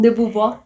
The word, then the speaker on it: de Beauvoir: De Beauvoir. De eso, no sé pronunciar eso. Gracias. Simón de Beauvoir.